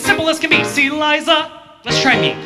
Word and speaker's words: Liza: It's Liza with a Z, not Lisa with an S, cuz Lisa with an S goes knots.